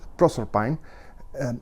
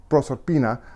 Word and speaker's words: Proserpine: I'm going to pronounce this Proserpine, instead of the Italian Proserpina, or the Greek Persephone, Because I think that's the way rossetti wanted it to sound.